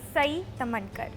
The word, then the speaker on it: Sai Tamhankar: Joining me in a conversation on Women Up Season 3 is Sai Tamankar. Hi. Hi, thank you for pronouncing my name correctly.